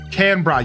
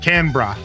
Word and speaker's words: Canberra: Canra. Yes, it just hit me. Canra. I think you pronounce it Canra because it's like an Australian reference or something.